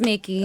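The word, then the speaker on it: Mikki: you spell that pronounced like mickey mouse spell m-i-k-k-i am i okay i'ma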